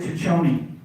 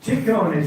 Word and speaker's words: Ciccone: Yeah, so why isn't it Ciccione? Ciccone, see, okay, good, all right, great.